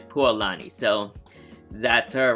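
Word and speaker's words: Pualani: So the correct way to pronounce the the girl the pretty much the lady on the tail the real pronunciation is poani.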